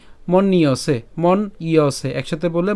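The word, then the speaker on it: মন্যসে: হবে এবং দন্তসিক কার ঠিক আছে তাইলে তার উচ্চারণ কি মন্নিয়সে মন ইয়সে একসাথে বলে মন নিয়সে এরপর মৃতম তাহলে আমি যদি প্রথম লাইনটি আবার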